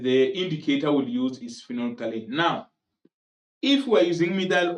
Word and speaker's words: phenolphthalein: If we are using phenolphthalein, remember the pH is silent there. So it's phenolphthalein, the pH is silent.